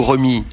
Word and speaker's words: Rémi: On dit même, à Reims, on dit Rémi. Voilà. C'est-à-dire Rémi, comme s'il n'y avait pas de...